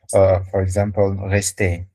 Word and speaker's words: rester: So R, we are just going to roll it, only to roll it. Okay. Okay. All right. Yes. For example, rester, rester. We are just rolling the tongue.